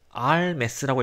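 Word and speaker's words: al mes: 50 에우로스 알메스라고 읽거든요. 이거를 그냥 알메스라고 읽고 그리고 그냥 한 달에 라는 뜻이에요.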